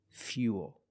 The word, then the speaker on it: fuel: like pool and cool but remember with fuel we have the same spelling pattern but the pronunciation is a little different we put that Y sound in there f f fuel so all four words